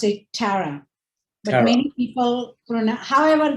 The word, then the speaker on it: Tara: how would you pronounce your first name i pronounce it tara but many people pronoun however they pronounce it